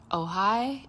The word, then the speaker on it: Ojai: This past weekend, I actually got to go to Ojai. It's spelled O J A I for those people